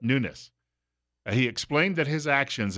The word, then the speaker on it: Nunes: office at newness so not Nunez but newness he explained that his